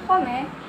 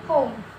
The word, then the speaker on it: home: Jadi home ini adalah kosakata yang sangat umum di mana huruf E-nya itu tidak diucapkan. Jadi bukan home, tapi home, ya, rumah.